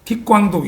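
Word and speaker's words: Thích Quảng Đức: 반면에 베트남 전쟁이 한창이던 1963년에 이제 베트남 발음으로 틱광둑이라는 사람인데, 틱광둑, 이걸 이제 우리 한자 발음으로 하면은 석광덕이라는 그런 발음이 됩니다.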